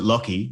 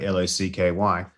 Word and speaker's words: Lachy: If you want people to pronounce it Lochy, like Locky, then your name should be Lochy.